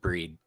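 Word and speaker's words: Brigid: interesting thing about Bridget I pronounce it breed breed breed I pronounce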